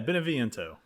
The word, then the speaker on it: Beneviento: Oh God, can you pronounce this for me, please? Yeah, Beneviento.